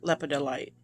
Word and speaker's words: lepidolite: lapedo light is beautiful leopard delight that's how you say it lepidolite and then a small